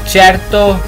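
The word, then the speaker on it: certo: और यहाँ भी आप देख सकते हैं कि सी के बाद ए आ रहा है तो ये चे बनेगा, चैरतो।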